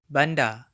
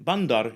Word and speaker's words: bandar: In Indonesian, bandar is usually a port or a water channel rather than a city. Oh, gitu. Notice that the final R is silent in many Malay accents, including the mainstream Johor, Riau, Selangor Malay.